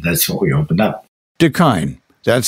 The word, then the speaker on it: da kine: beverage shop and that's what we opened up deine that's spelled d a k i n e it's